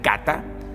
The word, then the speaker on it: cata: palabra catabólico proviene de la raíz griega Cata así Cata al final lleva como un acento en griego que significa descenso para